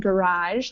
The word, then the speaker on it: garage: note on these two The Mirage and garage they kind of have more of an open a sound ah all right H is